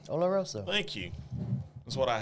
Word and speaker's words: Oloroso: It means scented in Spanish, so it's Oloroso. Oloroso. Thank you. That's what I have him around for, folks. I can't pronounce crap.